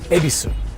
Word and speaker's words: Ebisu: So the name of the suburb itself is Ebisu. So you would pronounce that Ebisu. So if you were to be lost and you have a map in your hands that has Y-E-B-I-S-U, you would be saying, where is Ebisu? Not where is Yebisu.